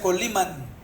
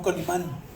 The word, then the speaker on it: Colima: un rey de colima se pronuncia con lima no colman había un señor de